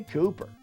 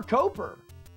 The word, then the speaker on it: Coper: Yeah, Cooper. Oh, you prefer Coper? Okay. Well, it's spelled Coper, so that's how people should say it.